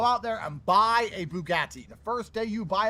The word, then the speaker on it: Bugatti: A Bugatti. A Bugatti. And that's how you pronounce Bugatti.